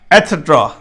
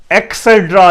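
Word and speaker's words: etcetera: एटसेट्रा, एटसेट्रा, ET, CET, सेट, RA, रा, एटसेट्रा। एक्सेट्रा नहीं है, एटसेट्रा, ये सही प्रोनाउंसिएशन है, एटसेट्रा।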